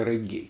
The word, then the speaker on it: регги: это в чистом виде регги, или реггей, как правильно говорить, но мы привыкли регги.